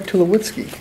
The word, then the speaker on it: Tulowitzki: Troy Tulowitzki, you say. That's, I think, how you pronounce it.